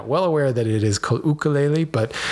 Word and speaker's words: ukulele: was there for one the true Hawaiian pronunciation of ukulele is to is to use the starting sound of O as in spook instead of the hard u sound in other words ukulele um Matt I appreciate